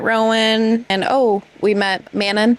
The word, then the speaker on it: Manon: And oh, we met Manon Manan if that's how you want to pronounce it, but I'm going to say Manon as always.